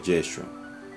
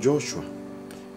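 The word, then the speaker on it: ישוע: es palabra salvación pero el nombre de Jesús en hebreo correctamente se pronuncia yeshua a veces se confunde algunos lo confunden con Joshua pero en hebreo es jehoshua yeshua y jehoshua no es lo mismo yeshua justamente Jesús es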